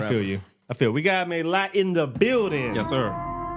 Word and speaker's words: Mélat: Mélat. Yeah. Are we pronouncing it right? No. Oh. Mélat. There we go.